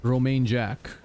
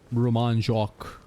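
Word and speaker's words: Romain Jacques: Much lower than, he was playing against, Mr. Romain Jack, or Roman Jacques, as the right way to say it is.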